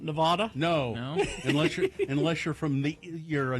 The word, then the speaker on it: Nevada: How to properly pronounce Nevada. It's Nevada. It's not Nevada?